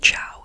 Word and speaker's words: Chão: I think it's pronounced Chão, C-H-A-O.